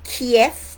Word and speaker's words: Kiev: African delegation was in Kiev and I say Kiev because when you look at the Cyrillic way it's written that's how you pronounce it I'm studying Russian at